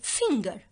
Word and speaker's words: finger: Here we have the word finger. Okay, here the G is followed with letter E, but we pronounce it hardly as a ga.